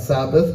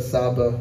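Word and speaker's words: Sabaoth: be praised Yahweh Sabbath it's not Sabbath but Saba Sabbath thank you the Lord of hosts therefore the Lord says the Lord of hosts Isaiah 1 24.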